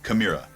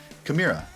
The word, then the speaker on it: Chimaira: Chimaira. Chimaira. Chimaira. There's also 2 other, in my opinion, totally acceptable ways to say it, and that's Chimaira and Chimera.